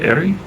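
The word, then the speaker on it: Éire: When I come to Ireland to erie, how do you pronounce it? Ery.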